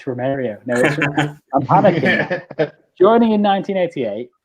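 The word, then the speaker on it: Romário: just i was like it's romeria it's romario i'm panicking joining in 1988 which was the first european club that brazil legend romario mario played for there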